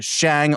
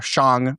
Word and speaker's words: SHĀNG: It indicates that the vowel should be pronounced as a long a like mate or cake.